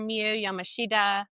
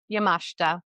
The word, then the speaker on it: Yamashita: I've been calling her Mu Yamashida. That's what my little American brain thinks it should be pronounced like, but no, I listened to how she pronounced it, which is Yamashta.